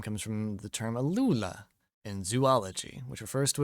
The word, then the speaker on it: alula: to Rue L's name comes from the term alula in Zoology which refers to a group of small stiff feathers in the first digit of a bird's Wing hey it's pronounced alula see also called bastard Wings Furious Wing the